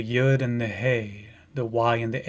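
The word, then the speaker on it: Yah: hey and it's pronounced ya but you have to hear the hey at the end when i say it's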